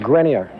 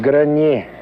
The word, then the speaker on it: Grenier: Grenier, just like Grenier Field.